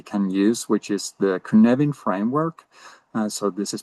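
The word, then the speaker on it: Cynefin: framework that we can use which is the kunvan framework. Uh so this is pronounced kvvin not sinophin for uh it's a Welsh uh term meaning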